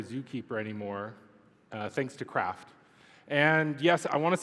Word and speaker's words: KRaft: anymore uh thanks to craft and yes I want to set the record straight it's craft not Kraft but regardless of how